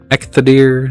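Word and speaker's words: Eikthyrdeer: Ethic dear. Ectadier. That's how you say. I always mispronounce.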